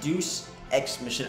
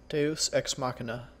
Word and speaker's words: Deus Ex Machina: I say Deuce X mission. I know I'm saying it wrong. I know I'm saying it wrong. Deus Ex Machina. Alright, Deus Ex. Okay, that's correct.